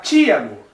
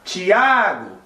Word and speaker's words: Tiago: o meu nome, Tiago, é uma paroxítona, né? Tiago, porque o A é o mais pronunciado. Quando alguém vai me chamar, a pessoa não vai gritar Tiago e também não vai gritar Tiago.